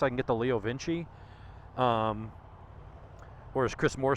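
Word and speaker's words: LeoVince: screen I was like it's Vinci it's Italian but that's how they pronounce it here in the South Leo Vince y'all and so I'll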